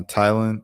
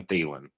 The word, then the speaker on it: Thielen: Um, Adam uh Tylen is is that how you pronounce it? Telen. Thailand. Thailand. Adam. Tat Tatapilan. No, it's you said Adam Thielen.